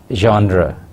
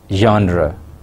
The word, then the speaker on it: genre: personal narrative genre first the word genre is a French word and it should be pronounced as genre genre genre means types or